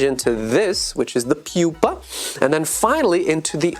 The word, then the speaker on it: pupa: It's not called the pupa. It's called the pupa. Pupa. That's how we pronounce it.